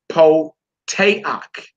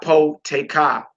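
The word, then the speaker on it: פותח: This next word we pronounce po-teak. Po-teak. Not po-teka. Po-teak.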